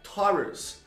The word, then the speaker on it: Taurus: A pronúncia correta é Taurus. Taurus. Lembra desse T que ele é um T, Taurus.